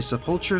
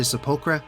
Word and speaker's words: sepulchre: I know that everyone pronounces this word differently, some say sepulchre, some say sepulchra. To each their own, I don't really care.